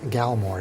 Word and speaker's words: Galmore: lovely city dumb luck how is his name pronounced again his name is galmore g a l m o r e gamore